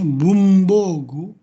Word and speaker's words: 文房具: Kemudian ini juga sulit bacanya bumbogu.